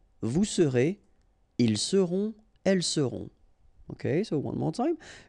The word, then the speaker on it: seront: sera, nous serons, vous serez, ils seront, elles seront. Okay, so one more time. Je serai, tu seras, final S not pronounced, il sera, elle sera, nous serons, final